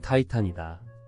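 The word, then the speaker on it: Titan: 족이라고 하는 거인족 신들이다 티탄 어디서 많이 들어본 소리인데 이렇게 고개를 갸우뚱하는 독자가 있으리라 맞다 티탄의 영어식 발음은 타이탄이 타이탄은 거대한 거인 대사업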